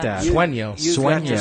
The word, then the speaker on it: Sueño: Does that mean you have got to Swinger Realty? Sueño. I like that. Sueño. You've got to Sueño. spell that one for It people.